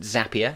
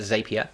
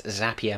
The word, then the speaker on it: Zapier: and it is pronounced zapier not the zapier the way you remember is it's zapier makes you happier and zapier is at